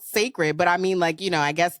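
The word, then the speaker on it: Cécred: It's spelled like CECRED. Right. And it's called Sacred.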